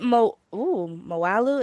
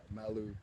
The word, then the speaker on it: Malu: Is it Moalu? Is that how you pronounce it? Yo, it's Malu.